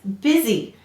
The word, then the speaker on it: busy: Now, this says busy. This is an exception because you doesn't say it, but it clearly says it in busy.